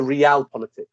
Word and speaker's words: realpolitik: So realpolitik is the pronunciation.